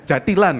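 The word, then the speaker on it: jathilan: Kalau saya googling, saya browsing itu munculnya itu jatilan gitu. Iya. Bukan jantilan. Tapi Mas Umar nyebutnya jantilan. Kenapa ada N-nya? Ini ya memang secara EYD atau ejaan yang benar itu kan jantilan gitu. Tapi di bagi masyarakat awam itu apalagi di daerah Desa Wonolelo itu mesti nyebutnya jantilan gitu.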